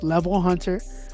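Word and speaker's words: LVL Hunter: So if y'all want to check it out, it's spelled LVL and then the word Hunter, HUNTER. That is the artist name, Level Hunter.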